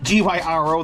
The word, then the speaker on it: gyro: And I did look up how to pronounce Gyro the correct way, and it's originally a Greek dish made with lamb, and that's what we're doing today. And it's pronounced gyro, Y-E. It's pronounced like it's Y-E-E-R-O-O.